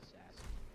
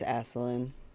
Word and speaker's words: Asselin: Can I pronounce it assassin? No, it's Asselin.